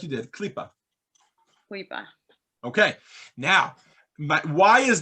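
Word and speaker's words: קליפה: How do you pronounce it? exactly like you did, Klipa.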